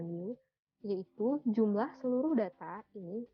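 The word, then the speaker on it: μ: Seperti huruf M ya, bacanya mu.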